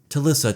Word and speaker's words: Talisa: You know, Tissa. Tissa. It rhymes with Shalissa.